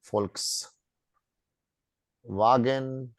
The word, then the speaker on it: Volkswagen: yes so we pronounce it so V is pronounced as foul like so we we call this brand folks wagon fatter fatter is written as fatter fatter all